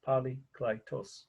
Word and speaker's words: Polykleitos: So poly, P-O-L-Y, of course, klei, right, K-L-I-E, right, tos, T-O-S, polykleitos.